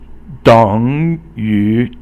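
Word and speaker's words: 等于: 等于等三声于二声, 等于 is equal to.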